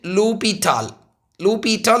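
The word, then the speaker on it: L'Hôpital: for students right but if you see the French pronunciation lal lupal is a correct pronunciation in French right but for English lital right okay so you can say something like this is called LO rule pronounce it like LO don't worry about the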